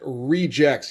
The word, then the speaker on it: RE:GEX: So yes, we are looking at Regex. Yes, I know that's how you pronounce the title.